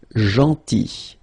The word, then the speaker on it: gentil: So remember this final L is not pronounced. Gentil, gentil, and it's nice or kind.